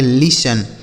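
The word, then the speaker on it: listen: इसे पढ़ेंगे लिसन। क्या पढ़ेंगे मेरे भाई? लिसन। लिसन। देखिए यहां टी जो लिखा है ना यह साइलेंट है।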